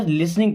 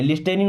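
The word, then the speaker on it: listening: Okay, तो आर you means क्या आप लिसनिंग, इस वर्ड में टी साइलेंट होता है ना, लिसनिंग पढ़ते हैं, लिस्टनिंग नहीं, लिसनिंग। टू मी मीन्स मुझे।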